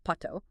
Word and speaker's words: pato: Let's use the textbook's example, learning the Spanish word for duck, which is pato, pronounced pato. Step 1 is acoustic link.